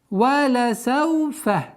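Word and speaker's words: وَلَسَوْفَ: Валя сауфа. Мягкое, четкое произношение всех звуков. Валя сауфа. Распространенная ошибка – это когда над лямом делают сукун.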